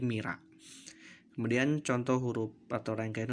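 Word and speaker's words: Myrrha: Contoh tulisan Mirha maka diucapkan menjadi Mira.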